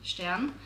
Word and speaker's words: Stern: and Stern in German if you pronounce a German Stan that is the word for Star so her name is